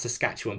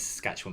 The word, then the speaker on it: Saskatchewan: Tina says, Rob, you've pronounced Saskatchewan perfectly.